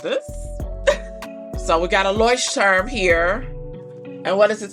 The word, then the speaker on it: Leuchtturm: Leuchtturm. So this is the A4 master size, which I believe is their largest size. And I don't know what I'm gonna do with this. So we got a Leuchtturm here.